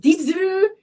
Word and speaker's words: Dazzle: We play with uh Da Du like I they're called it's spelled Dazzle. They're an indie band. They're not the band you're probably thinking of. And they're it's pronounced Du and they were at Tokyo Dark Castle all the time.